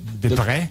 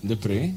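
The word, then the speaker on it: Deprez: To avoid a possible mistake, can you tell us how we should correctly pronounce your real name? Yinte. Yinte, all right. Yes. Yinte de Pré? De Pré.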